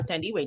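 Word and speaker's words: Thandiwe: the daughter of uh Sandy Newton or thandieway Newton as her name should be properly pronounced the Sarah Miller and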